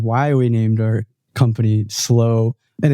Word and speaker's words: Slo: button on the record I said How's it pronounced and you said slow but you said other people pronounce it some